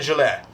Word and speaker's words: Gillette: corrected on these matters don't pronounce the T at the end of my name I got it Kevin Juliette get away Kevin show